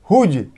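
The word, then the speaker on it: whose: हुम, तो देखिए एच का उच्चारण हो रहा है, W यहाँ भी साइलेंट है। हुज, तो यहाँ भी W साइलेंट।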